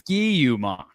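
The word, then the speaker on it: Ski-U-Mah: They wanted something that rhymes with raw.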